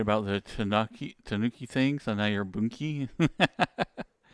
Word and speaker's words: Tanuki: Tanuki with a U only barely pronounced like I do it.